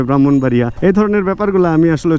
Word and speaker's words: ব্রাহ্মণবাড়িয়া: কিন্তু বলতে হবে পদ্মা বানান দেখা যাবে ব্রাক্ষণ বাড়িয়া বা ব্রহ্মপুত্র বা ব্রাক্ষণ কিন্তু বলতে হবে ব্রাহ্মণবাড়িয়া এই ধরনের ব্যাপারগুলো আমি